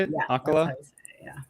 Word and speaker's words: Ocala: Elise went to the Arita signing in Ocala. Is that how you say it? Yeah, Ocala? Yeah, Ocala.